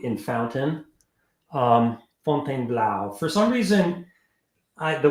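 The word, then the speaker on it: Fontainebleau: U in Fountain um fontain Blau for some reason I the way I thought to how to remember to spell it is that it's pronounced Fon blow um so let's see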